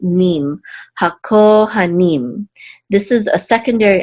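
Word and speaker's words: הכהנים: This shavar right here reduces this patak sound, so you want to make sure to not accent this syllable for sure. So hakohanim, hakohanim, and the ha means the.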